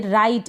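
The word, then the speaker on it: write: और यहाँ पर भी ये जो लास्ट में ई आ रहा है और ये राइट, इसको हम राइट पढ़ेंगे, इसमें भी ई आ रहा है, इसका उच्चारण नहीं होता।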